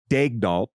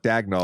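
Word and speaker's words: Daigneault: a press release where they said it's Mark dagdoll and then if you just Google how to pronounce Mark dagnell it's different it's a French pronunciation it's different it's a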